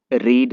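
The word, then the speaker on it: read: quit, quit quit quit, रीड रेड रेड, उच्चारण बदलता है यहाँ पे, स्पेलिंग नहीं चेंज होता है, तो रीड रेड रेड,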